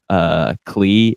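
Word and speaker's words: Klei: It's Clay. It rhymes with play.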